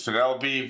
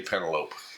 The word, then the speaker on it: Penelope: It's Penelope. For some reason, my brain always want to say Penelope.